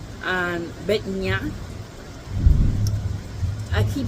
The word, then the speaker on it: Batanya: But there are down in a stable, Batanya and Betnia.